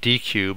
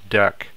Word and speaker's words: deque: what a deck is it looks like DQ but it's actually pronounced deck so DAC also known